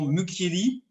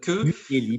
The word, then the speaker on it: Mucchielli: Faites-moi juste un tout petit plaisir de prononcer mon nom Mukieli. Hein, Mukieli, pardon. Voilà, je vous impose pas l'accent corse. Mukieli, c'est pas la peine. On va garder ça pour les Corses.